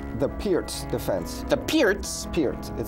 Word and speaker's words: Pirc: gonna reply d 6 which is called the Pierce defense appeared speared it spelled PIRC but it's pronounced Pierce Pierce okay here like Neil pure from a lot of roughly it's perk but it's not perfect the man that was